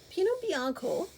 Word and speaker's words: Pinot Bianco: Pinot Bianco, as it is pronounced in Italy, is a genetic mutation of Pinot Noir, which is a light but wonderful red wine.